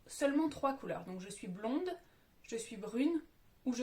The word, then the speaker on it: blond: dis "je suis blond" la dernière lettre est un -d pour le masculin donc je ne la prononce pas.